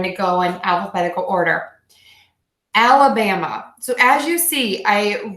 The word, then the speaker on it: Alabama: let's try this again I'm going to say it very slow each beat al Bam of ala bama alabama alabama alabama okay